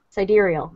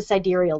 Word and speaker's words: sidereal: How do you pronounce sidereal? Sidereal.